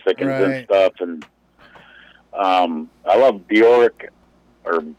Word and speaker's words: Björk: into the Bruce Dickinson stuff, and I love Bjork, or Björk, I guess her name is pronounced.